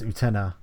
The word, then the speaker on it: Uktena: Um, Is it Uktena? Uktena? Uktena? so I was watching the making of, and I believe it's pronounced Utena. Like The the K K is silent. silent. Yeah, Silent K.